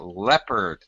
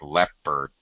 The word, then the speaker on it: leopard: yeah yeah when uh in english we don't really pronounce this o it just sounds like leopard leopard yeah we don't even oh it's not even art it's just erd leopard like that got it um